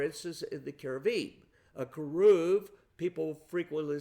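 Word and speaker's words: כרוב: It uses, for instance, in the cherubim, a keruv. People frequently say a cherub, C-H-E-R-U-B. In Hebrew, that CH is pronounced as a hard K.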